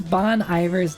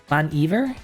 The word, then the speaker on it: Bon Iver: Bon Iver? Bon Iver? Welcome back, Chris. 3 for Emma. All right. Evair. It's like it's French. Bon. Evia. So you don't really pronounce the R then.